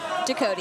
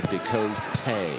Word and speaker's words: Dakota: Am I pronouncing that correctly? Dakota, yeah. Pretty close. Just Dakota? Yep. You know, they sat down with me and they said, you need to say Dakota. Okay. And I was like, okay. I'll take it. You could put an accent on there.